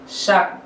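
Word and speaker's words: 삯: সা যোগ ক স আপনারা মনে রেখেছেন উচ্চারণ হবে শাক শাক তাই না যেহেতু আমি বলেছিলাম যে প্রথম যুক্ত ব্যঞ্জন বর্ণটার যুক্ত ব্যঞ্জন বর্ণের প্রথম যে বর্ণমালাটা সেটা হচ্ছে ক বা গিয়ক সুতরাং এর উচ্চারণ এই প্রথম ব্যঞ্জন বর্ণ অনুযায়ী হবে সুতরাং এটা শাক তার মানে হচ্ছে পরিমাণ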